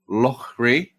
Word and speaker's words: Loughrey: Loughrey. Well pronounced.